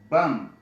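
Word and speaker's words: bomb: یا مثلا که ووایم چې بم نو دغه بی نه تلفظ کېږي ځکه اخر کې د ایم نه وروسته راغلی دی.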